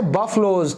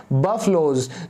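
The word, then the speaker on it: buffaloes: गायों को, एंड बाय बफलोज। तो दोस्तों इसको बफेलो मैंने सुना है कई लोग बोलते हैं, लेकिन ये बिल्कुल गलत है, इसको हम प्रोनाउंस करते हैं इंग्लिश में बफलोज।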